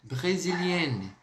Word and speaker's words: brésilienne: Vai ficar assim a pronúncia, ó. Je suis brésilienne.